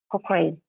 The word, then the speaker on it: Cochrane: Но если вот принять во внимание, что Cochrane произносится вот таким образом, Cochrane, вот, мы транслитерируем таким вот образом, Кокрейновская библиотека.